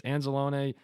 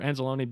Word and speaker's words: Anzalone: he was amazing um I always say anzelone I think it's anzelone is the correct pronunciation I don't know why I've always saying anzalone I don't know yeah